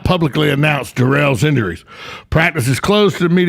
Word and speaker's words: Durrell: Durrell, yes.